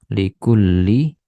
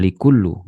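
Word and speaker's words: لِكُلِّ: ywafiq wakum Li nah Li di sini juga membuat kata setelahnya itu menjadi kasrah Ya likulli bukan likullu gitu ya likulli Kirin waan yuyasiro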